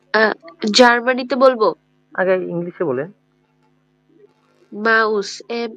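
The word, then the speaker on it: Maus: মা উচ্চ রসৌ স বা স মা মা মাউস যদি আমরা আরেকটা এক্সাম্পল দেখতে চাই কি বলা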